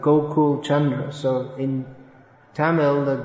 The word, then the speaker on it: Gokul: Instead of Gokul, it became Hogul. Because they mix up the G, the K, and the H. So Gokul became Hogul.